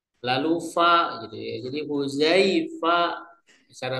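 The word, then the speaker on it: حذيفة: Jadi huzaifa cara membacanya.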